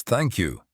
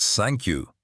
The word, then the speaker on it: thank you: "It's thank you, not sank you. You gotta make the th sound.